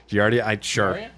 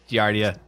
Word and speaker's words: giardia: is that right doctor no okay uh guardian giardia giardia something you should know about me is i can't pronounce anything correctly to save my life um